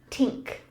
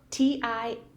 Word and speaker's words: tink: Tink. Tink? T-I-N-K.